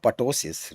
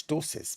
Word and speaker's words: ptosis: called as the not patosis right it is called as ptosis p is silent so it is cholestosis